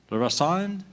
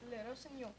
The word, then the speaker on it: Le Rossignol: And I think I'm going to pronounce this right. Le Rossand? Le Rossignol.